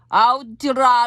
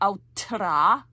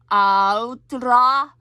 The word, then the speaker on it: altra: It's almost like a little bit of a D in there. It's a combination between a T and a D, so it's not really altra, because that would be two T's.